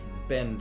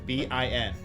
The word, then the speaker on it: Bin: pronounced Ben. like... Ben. Ben. B-I-N.